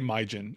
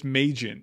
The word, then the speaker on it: Majin: I did say Myjin. Is it Majin? Oh, it's Majin.